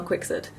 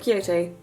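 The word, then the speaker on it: Quixote: this book or like it's called the female quickside not kyoto kwikset it's meant to be pronounced like that i promise um this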